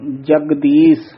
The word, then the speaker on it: जगदीश: ये भी जगदीश नहीं कहना, थोड़ा जा कस के बोलना है, एक नाम जगदीश, जगदीश इस तरह बोलना है।